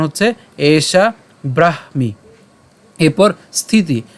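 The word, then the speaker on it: ব্রহ্ম: হচ্ছে ওপি ওপি এরপর ব্রহমযে আমরা কিছুক্ষণ আগে ভেঙ্গে দেখিয়েছি এটাকে আমরা ভাঙলে কি পাই হ এবং ম পাইলে উচ্চারণটা কেমন হবে ব্রহম ঠিক আছে ব্রহ এবং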